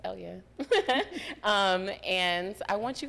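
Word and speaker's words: Elleyah: me at e-l-l-e-y-a-h and that is at Elya for everybody who can't um pronounce my name it's Elia um and I want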